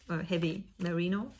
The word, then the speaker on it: Heavy Merino: Das ist Knitting for Olive Heavy Merino. Heavy Merino, doch, muss mit englischer Aussprache ausgesprochen werden.